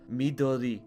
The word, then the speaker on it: Midori: as a side note a more correct pronunciation of the name would be something closer to me Dodie however because this is my game the characters called Midori because I can say that easier moving forward we're definitely